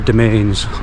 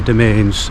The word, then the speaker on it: Demesnes: Uh it's spelled a strange way, but it's actually uh domain or domains. the domains is how it's pronounced.